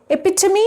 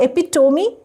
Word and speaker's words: epitome: Interviewer, epitome and not epitome? And not hyperbole, but hyperbole?